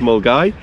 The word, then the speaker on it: Milngavie: garvey yep for we english folk but it's pronounced mole guy and that is the official start point of